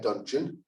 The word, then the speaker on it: Dungeon: 2 over 2021 term my name is dungeon um pronounced like luncheon but with a d you know maybe i've